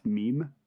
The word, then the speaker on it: Mimi: It's pronounced meme, but Alright, screw you.